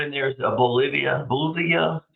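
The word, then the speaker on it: Bulova: uh the one in there is a Bolivia Bolivia is how you say it it's about 600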